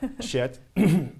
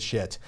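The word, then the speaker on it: Schiit: Yes, shit is our name, and it's pronounced, well, like, hey, man, that's some really good shit.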